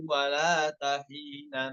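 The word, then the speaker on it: ولات حين: Bukan dibacanya wala wala terus dipisah taknya tahina, salah. Namun ya apa, baca yang benar wala tahina seperti itu ya.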